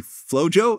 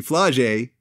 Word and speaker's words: Flau'Jae: niece yeah is actually flojo am I pronouncing the name right sorry it's actually fly Jay on LSU's right female